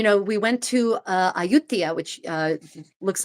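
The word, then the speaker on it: Ayutthaya: Um but you know we went to uh Aayutia which uh looks like Aayutaya if if you look at it in how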